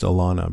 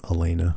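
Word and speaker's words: Alanna: The last thing that Lauren Cohan said to me was, um, it's pronounced Alana because I was pronouncing Alana's name Elena during a panel.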